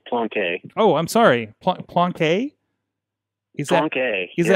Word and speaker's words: Plonk: He is Plonk, joining us on the phone line today. How you doing, sir? It's pronounced Plonke.